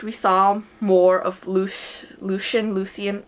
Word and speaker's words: Lucien: saw more of loose Lucien Lucy and I pronounced at leucine but I think it supposed to be Lucien whatever Lucien and Tamlyn because